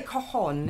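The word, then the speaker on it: cajón: How do you say it? You say cajon.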